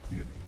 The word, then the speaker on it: theanine: Studies have proven that ingredients in Mountain Dew may have game fuel, caffeine in combination with theanine, pronounced theanine, have been shown to increase accuracy and alertness.